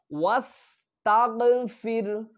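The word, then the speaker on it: وَاسْتَغْفِرْ: এরপরে ওয়াস্তাগফির, ওয়াস্তাগফির, ওয়াস্তাগফির, খেয়াল করে দেখেন শেষের হাটা বুক থেকে আসতেছে, তাহলে উচ্চারণটা একটা সিফাত আছে এই অক্ষরগুলির, সেটা তাহলে আমাদের জন্য সুন্দর হবে, তাহলে ওয়াস্তাগফির, এইটা আমাদের সুন্দর করে উচ্চারণ করার চেষ্টা করতে হবে।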